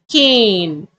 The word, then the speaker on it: cane: If I add e at the end, you have to change the vowel sound k, a, n, cane.